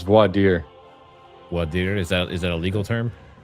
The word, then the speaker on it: voir dire: I don't even know how to pronounce that. Voir dire. Dire. Clown Voir, world. it's voir dire.